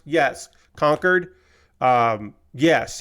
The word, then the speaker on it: Concord: city is pronounced yes conquered um yes he was pronouncing it like the place not like Concord The Other Place uh the the jet